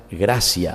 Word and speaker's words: gratia: Gratia, en latín se pronuncia gracia, a pesar de que se escribe gratia, ¿verdad?